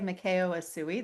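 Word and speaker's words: Mikao Usui: I say Mikao Asui. That's the way Michael pronounced it.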